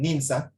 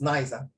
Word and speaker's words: Nice: attacks, which is in Nins. This one don't pronounce as nice. You pronounce as Nins.